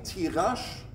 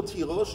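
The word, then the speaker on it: תירוש: Il dit, écoute, souvent, le mot tirosh, il écrit sans vav. Sans vav, on peut le prononcer tirash. Et il y a mais nous, on le prononce pas comme c'est écrit, on le dit tirosh.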